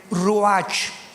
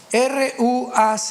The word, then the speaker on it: ruach: Biblia la palabra espíritu que es la palabra se escribe ruach r u a ch H ruach qu es la palabra espíritu vemos